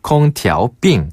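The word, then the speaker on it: 空调病: 콩티 삥 이건 거죠 한번 더 콩티 삥 콩 티아오 삥 자 그러면 냉방병 걸렸어요 어떻게 합니까네 냉방병 걸렸어요 얻다 뜻에 얻을 자를 중국식으로 발음하면 더어 어 드어 어라고 하거든요 그리고 그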